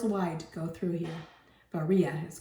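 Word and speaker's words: Varilla: Zone 10 miles wide to go through here varia is called actually because you don't pronounce the else hey and the United States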